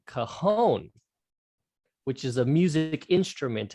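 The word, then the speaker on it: cajón: So a lot of people I hear saying Cajun. Yes, but because it's Spanish, it's pronounced differently. And in the Spanish language, they don't have a j sound. All of their J sounds with the ha. Yeah. Yes. Yeah. So you would say cajon.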